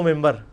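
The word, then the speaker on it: منبر: ہوئی ہے، محراب و ممبر. ممبر کے سپیلنگ کیا ہے؟ من بر، لیکن پڑھا کیا جاتا ہے؟ کیوں؟ کیونکہ نون کے بعد، نون ساکن کے بعد بار ہے.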